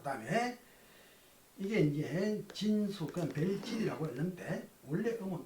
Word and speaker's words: 辰宿: 그러나 우리 천자문 읽을 때는 진수라 해요. 숫자도 이게 이제 원래 잘 숙자라 그랬죠. 숙박한다 할 때. 그런데 별 이름을 말할 때는 숫자라고 읽어야 돼.